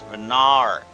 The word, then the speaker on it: Venat: That would be I keep pronouncing it like uh star mommy's name. I'm not trying to do that. It's venar.